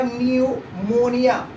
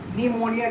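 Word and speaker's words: pneumonia: अब यहाँ से हम इसको पढ़ना शुरू करेंगे, उसका उच्चारण करना शुरू करेंगे, तो ये क्या हो जाएगा, न्यूमोनिया। निमोनिया जो कि एक बीमारी का नाम है, निमोनिया, जो कि काफी ज्यादा डेंजरस बीमारी है।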